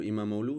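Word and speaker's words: İmamoğlu: Sir, Turkish police arrested Istanbul Mayor Ikram Imam Imamu or Imamu in Turkish pronunciation.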